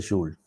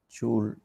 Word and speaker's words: Joule: Hay dos maneras de pronunciar Joule, porque padre inglés, madre francesa, entonces uno le puede pronunciar Joule Profe, o...